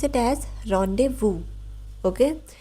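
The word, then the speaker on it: rendezvous: इट इज़ a noun but we pronounce it ऐज़ रोंडेवू।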